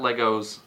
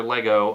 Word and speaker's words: Lego: what I liked about Legos was you got or Lego I always say it wrong I always put an S on it and I think Lego is both singular and plural but you just have